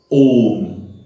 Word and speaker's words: Om: Om. A, U, Ma. 3 syllable.